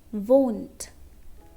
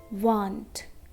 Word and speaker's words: won't: Now remember, we have to pronounce won't. Okay? Won't, not want. Want. Want is different.